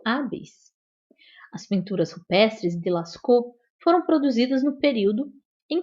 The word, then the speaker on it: Lascaux: Se escreve Lascaux, mas se fala Lascaux porque é francês, tá bom?